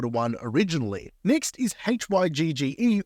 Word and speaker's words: hygge: one originally next is hygge or Huga it's pronounced hyuga coming from the Danish word to give courage Comfort